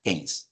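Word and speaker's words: Keynes: 36 estuvo por ahí kein eh En verdad se pronuncia kein vale publicó la teoría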